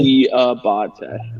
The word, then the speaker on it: Diabate: and then it's Diabate. That's the actual. Diabate.